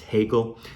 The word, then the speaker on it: Hegel: Actually, it's pronounced Hegel.